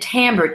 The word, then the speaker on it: timbre: that you're hearing, and timbre, Timbre, using the French term. It sounds like as if it's spelled differently because that's French for you, right?